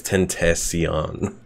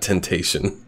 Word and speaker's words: Tentacion: It's Tentacion, not Temptation.